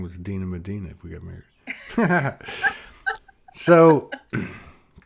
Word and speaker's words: Medyhne: Yeah, your name is pronounced Medina.